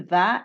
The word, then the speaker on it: vas: طريقة النطق je vais, tu vas, il ou elle on va.